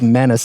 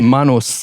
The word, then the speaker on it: Manus: got to tell you everyone says Manus in the Australian media but I've lived in PNG as a kid it's Manos it's Manos Island but